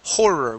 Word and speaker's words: horror: if you watch the horror movie okay now this word is pronounced horror we do pronounce that H horror movie try that